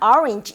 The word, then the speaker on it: orange: 그래서 자기는 오렌지라고 외웠는데 듣기평가에서 orange 이렇게 나오면 뭔지 모르는 그러니까 항상 정확한 발음으로 단어 암기하는 게 좋겠죠?